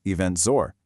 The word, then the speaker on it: Eventz: Welcome to eventful Estonia, an explainer and part of the eventful world 2026 series by Eventz, pronounced event zor.